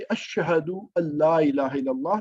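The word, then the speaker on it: أشهد أن لا إله إلا الله: मतलब के है, और अन आप याद रखिए अशहदु अल्ला इलाहा इल्लल्लाह, उसमें नून की आवाज जो है वो साइलेंट हो जाती है। उसकी वजह भी तजवीद का रूल है एक।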